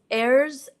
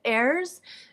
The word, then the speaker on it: heirs: What did Samsung's late chairman Lee Kun-hee's heirs, so H is silent, the heirs, do with 23,000 pieces of his art collection after his death?